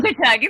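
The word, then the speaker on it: Unkechaug: And tomorrow our guest is Chief Harry Wallace of the, I want to pronounce it right, so maybe Reggie or Tecumseh will have to. Unkichug Nation. Unkichug, thank you.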